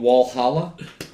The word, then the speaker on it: Valhalla: the uh it's called wallhalla yeah wallhalla but I'm part German so I'm going to pronounce it I'm going to pronounce it Vala Valhalla Valla Valhalla that's what I'm pronouncing I'm part German dude